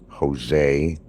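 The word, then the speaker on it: José: You don't pronounce it as a J. It sounds more like an H. Jose.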